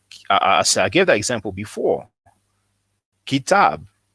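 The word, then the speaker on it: كتاب: he will know that the KTB is pronounced kitab.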